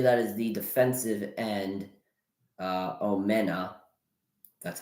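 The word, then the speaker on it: Omenihu: I believe that is the defensive end, Omena. That's how you pronounce his name.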